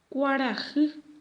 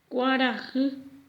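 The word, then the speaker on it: kuarahy: En guaraní decimos cuarajı. Cuarajı.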